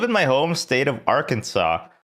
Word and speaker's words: Arkansas: I think we live in my home state of Arkansas. Why is it called Arkansas, but it's spelled R Kansas?